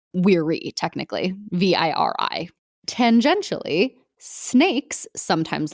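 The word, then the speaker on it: viri: calling themselves verse or as they would pronounce it weary technically v-i-r-i tangentially snakes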